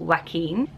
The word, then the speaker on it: Joaquin: something like that and pronounce the Q, because we're used to that name. So it's a very, very hard one, but it is pronounced Joaquin. In Portuguese, if you see Aziz's video, they would pronounce it more Joaquin.